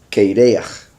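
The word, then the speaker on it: קרח: están traduciendo como calvo, se pronuncia diferente, pero se escribe igual, ¿verdad? Ahorita voy a explicar qué prefiero. La palabra sería Keireach. Keireach sería calvo. Las mismas letras, Korach, es el nombre del usurpador.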